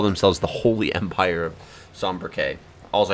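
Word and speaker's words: Sanbreque: They call themselves the Holy Empire of Sombriquet. Also, I found out I've been pronouncing it wrong. It's Sombriquet. Or Sombreg. Good day to you. They say Sombreg.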